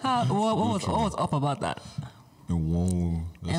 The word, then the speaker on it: Enwonwu: late celebrated Nigerian creative artist, Professor Benedict Chukwukadibia Enwonwu. Good try. What was up about that? Enwonwu. Enwonwu.